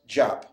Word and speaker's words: Diop: the book by dr pronounced jop spelled d-i-o-p in the book african